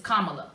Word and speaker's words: Kamala: Kamala. That's the way to pronounce it. It's Kamala.